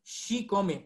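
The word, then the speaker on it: chicome: idioma en la web el 7 se pronuncia si comen en castellano lo vamos a encontrar como chico pero en la fonética náhuatl es si come con x si come si lo repetimos varias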